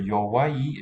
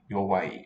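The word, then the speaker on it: 弱い: Now, for yowai, it's three symbols, three characters, written marks. Sounds like two syllables, but it's yo, then wa, then i. Wa-i, yowai, a sequence of vowels there.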